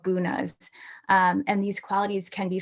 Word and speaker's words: guna: Can you give us an example of a gouda? Did I say it right? Guna, I feel yeah.